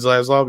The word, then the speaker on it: Zaslav: And hopefully this guy Zaslav, is that how you say it? Zaslav? David Zaslav, yeah.